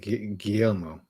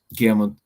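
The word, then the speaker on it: Guillermo: How do you pronounce it? Well, I pronounce it GMO. GMO. He's Mexican. So GMO del Toro Gomez is his full name.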